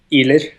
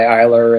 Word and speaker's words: Ihler: So the ER is pronounced a hard K sound in Letter. Norwegian. It's like a hard R sound. Oh, like, okay. doesn't really exist in English.